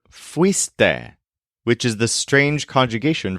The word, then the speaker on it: fuiste: If you can remember the stressed syllable weast, it'll help you remember fuiste, which is the strange conjugation for the informal second person, you went.